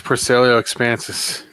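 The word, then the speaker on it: Porcellio expansus: Yeah, it's Percelio expansus.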